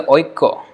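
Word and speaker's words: ঐক্য: Spelling is always like Aikya, but they pronounce this as Oiko, actually Oiko. So when this Y is half, like Kya, instead of Kya they say Ko, Kko, like that.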